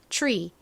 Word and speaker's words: tree: tree를 발음을 하실 때에는 한국식으로는 보통 트리 이렇게 발음을 하지만 t와 r이 연달아서 나오면 그냥 트 소리가 아니라 살짝 치읓 발음이 섞여서 들어간 소리가 납니다. 그래서 트리가 아닌 tree, tree 이렇게 발음이 됩니다.